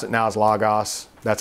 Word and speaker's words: Logos: I pronounce it now as Logos.